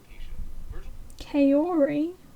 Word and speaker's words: Kaori: Kaori? This is an advert. A female name that means fragrant. It would normally be pronounced as kaori.